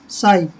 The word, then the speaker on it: sigh: जैसे SIGH, इसको कई सिग पढ़ते हैं, तो ये सिग नहीं होता, ये शाई होता है, SIGH, साई। साई मीन्स आहा भरना।